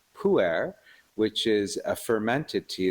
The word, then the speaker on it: pu'er: tea called pu'er, which is a fermented tea.